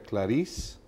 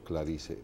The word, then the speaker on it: Clarice: las personas preguntar si se pronuncia claris o clark y se si está bien dicho claris punto número 2 todo